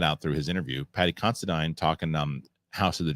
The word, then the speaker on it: Considine: rightfully so he had Patty uh constadine is how you pronounce it found that out through his interview Patty considine talking numb House of